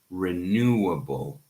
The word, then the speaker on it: renewable: Ismail asks, how do we pronounce, okay, renewable? So it's renewable. 4 syllables.